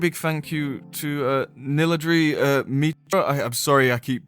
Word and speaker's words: Niladri: Well, thank you very much for coming along, my friend Niladri.